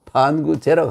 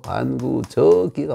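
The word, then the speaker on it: 反求諸己: 반구제라고 하면 안 되고 반구저기가 맞습니다. 우리 조상들이 1000년 가까이 저라고 읽어왔는데 이걸 가지고 갑자기 의도적으로 바꾼 것도 아니고 몰라서 이러던 거 아닙니까? 그렇죠? 이걸 저는 무조건 제자인 줄 아는 거예요. 이 어조사로 쓸 때는 저라고 읽어야 됩니다.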